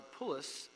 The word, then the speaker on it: Pulic: Number 5, subcontractor substitution for the Police Construction Incorporated, or PULIC, P-U-L-I-C, PULIC. Oh, well, however, it's police, Commissioner Davis? Okay, but it's spelled P-U, not P-O.